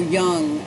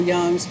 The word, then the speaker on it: Jung: You talk Carl Jung, the J is silent, but it's a hook, because they call him the father of psychology, or modern psychology.